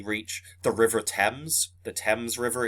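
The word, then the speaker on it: Thames: the river temps the temps River it's spelled themes but it's called the temps okay um it's the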